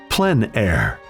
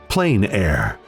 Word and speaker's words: plein air: open air or outdoors the french pronounce it plein air others say plain air no matter how you